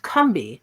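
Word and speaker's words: Combahee: a local South Carolina river that was actually pronounced cumbi by the indigenous people of the area the founding and early members of the combahi river Collective included Barbara Smith her sister Beverly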